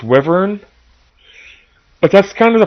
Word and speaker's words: wyvern: as humanly possible no is it pronounced wyver or wyvern I've always pronounced it Wyn in fact I have a Wyn tattooed on my right arm but I don't know how it's pronounced I think it's wyvern but that's kind of